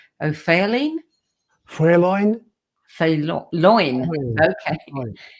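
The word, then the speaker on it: O'Faoláin: And let me see if I can pronounce this right. O'Fearlin? Fréloin? Fréloin.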